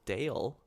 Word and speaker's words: Dale: His wife, her name is Dale, apparently. Dale. That's really fun. I like that. Which It's is spelled like straightforward. Gale, but with a D.